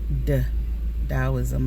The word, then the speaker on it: Taoism: right all right taoism you may often see it uh spelled with a t t a o i s m but it is pronounced d taoism all right the origins